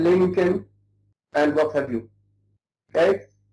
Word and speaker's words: Lincoln: We don't pronounce the L before the final M. This is a rule in English. We say Malcolm, Lincoln, and what have you.